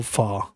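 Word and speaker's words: phở: So if you ever ever get a chance to have some like you know some real fa you know and it's pronounced fa but it's written fo like f hh o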